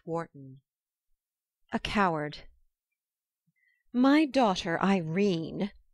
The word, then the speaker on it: Irene: "My daughter Irene," said Mrs. Carstyle, she made it rhyme with tureen, "has had no social advantages, but if Mr.